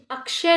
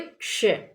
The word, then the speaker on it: क्ष: ये अक्षय नहीं है, ये गलत उच्चारण है। हम इसका सही उच्चारण करेंगे क्ष।